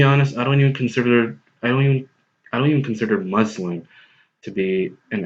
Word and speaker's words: Muslim: say Americans in general, you guys pronounce this word as Muslim. Now, I personally interchangeably use both pronunciations. I say Muslim, and there are times when I say Muslim myself. But if you're interested in how you actually say this word, it's Muslim.